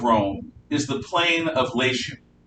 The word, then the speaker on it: Latium: the plane of lation it's spelled latin but every time i'm dealing with a serious latin scholar they say no no no it's not caesar it's kaiser and it's not the plains of latium it's the plains of lation so call on what you will it's spelled latium i'll say lation but i'm not going